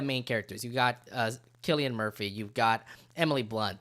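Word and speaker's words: Cillian: joke works is that some people pronounce it Killian others pronounce it San yeah yeah but it is Killian Murphy right am I making that name right it is Killian Murphy right K Murphy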